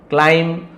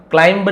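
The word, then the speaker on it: climb: थम, com, Baum, क्लाइम, क्लाइंब नहीं, क्लाइम, क्लाइम यानी चढ़ाई करना, कैन यानी है ना एबिलिटी बताता है सकता हूं।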